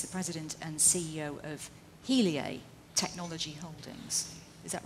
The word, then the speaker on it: Heliae: simon who is the president and ceo of helia technology holdings is that right did i pronounce it right you have it tell us